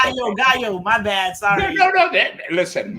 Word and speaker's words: Gaillot: Tell us what that is and what that looks like in the JLo administration. Okay, Gaillot, but that's Gaillot.